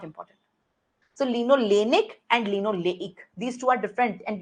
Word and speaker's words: linoleic: Can you please pronounce? Linolenic. In omega-6, it's linoleic.